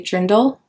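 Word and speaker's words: Dirndl: into that I really want to wear a dindle they really cute look it up it's spelled Dr it's spelled D i r n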